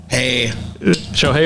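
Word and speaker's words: Shohei: does not the first name how would you pronounce that first name so hey yeah you got it right hey show hey oh Tony sweet now this is where we're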